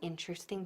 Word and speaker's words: interesting: La primera es la correcta pronunciación de interesting, que en inglés solo tiene 3 sílabas. Interesting.